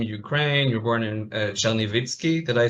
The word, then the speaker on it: Chernivtsi: You were born in Chernivtsi. Did I say it correctly? Chernovitz.